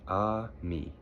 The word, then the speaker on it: ami: The word is ami, my mom says. You say it like this, ami.